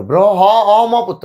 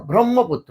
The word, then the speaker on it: ব্রহ্মপুত্র: তো কেউ হয় না ব্রহ্মপুত্র ব্র হ অম পুত্র না ব্রহ্মপুত্র এই যে হ অ হ